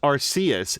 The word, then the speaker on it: Arceus: Fox was saying, I think the anime pronounced it as Arceus. Thank you, Fox, because I've never seen an episode of Pokemon that had it. Spatman said, I'd say Legend R redacted us, but for real, I think it's closer to your first pronunciation where the C is pronounced as an S.